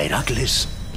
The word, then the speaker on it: Heracles: Tras vencer a la gorgona que había atacado a Heracles. ¿Por qué haces esa cosa tan rara con la voz? ¿Heracles? Sí, eso. Se supone que hay que pronunciarlo así. Te vas a asfixiar con tanto trabalenguas.